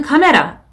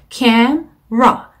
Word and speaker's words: camera: 이 단어는 카메라 이렇게 발음하시면 안 되고 cam 하고 ra를 따로 발음하는 것처럼 camera.